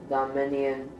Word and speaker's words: dominion: It says man's attempt to establish dominion. It's a long O at the beginning.